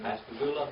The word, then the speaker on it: Pascagoula: Pascagoula, Mississippi.